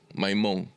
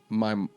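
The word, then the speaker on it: Maimón: Maimon. Maimon.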